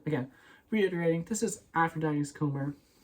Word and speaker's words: Comber: I'm pretty sure, I thought the B was silent, so this is Aphrodite, again, reiterating, this is Aphrodite's Comber.